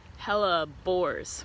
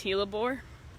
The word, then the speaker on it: hellebores: can see that Martha it's hella bores with a B or it can be pronounced he labore let's get closer to